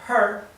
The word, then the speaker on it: her: her si la palabra her su de ella verdad se pronuncia her como una j eh exhalada bien suave no como la H inglesa her sin embargo en